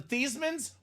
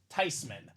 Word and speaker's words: Theismann: says it makes sense it's a German name with that spelling that pronunciation it should be tysman so Joey t for